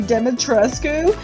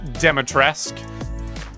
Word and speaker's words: Demetrescu: Is that a Pure Lust polyresin 1-4 figurine of Lady Demetrescu? Mint in the box? Excuse me, it's pronounced Demetresque.